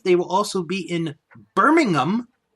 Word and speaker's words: Birmingham: will also be in Birmingham notice I said I said it right it's berming them over it up over in Europe I know the difference don't worry it the Genting Arena